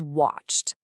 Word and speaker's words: watched: The answer is watched. Huge congratulations if you remembered to use that crisp t sound at the very end instead of adding an extra awkward syllable.